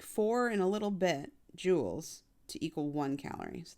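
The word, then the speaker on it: joule: that's messy um in the metric system it's Jewels yeah you should know how to say it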